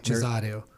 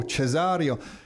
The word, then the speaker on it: Cesareo: Cesareo. Oh, Cesareo. It is the day of Italians in here. I just mentioned that we had Fabio in here before. Now we have Mario Cesareo and Vince.